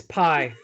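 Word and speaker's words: Pai: It's Pi. Hey. P-A-I. God damn it. Oh. I love you. The P is silent.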